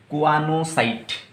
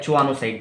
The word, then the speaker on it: choanocyte: है इसको हम बोलेंगे क्वानोसाइट। क्या बोलेंगे बच्चों? इसको बोलेंगे क्वानोसाइट। CHOANOCYTE, क्वानोसाइट। अब क्वानोसाइट को क्वानोसाइट या चोआनोसाइट जैसे भी आप प्रोनाउंस करना चाहते हो प्रोनाउंस कर सकते हो।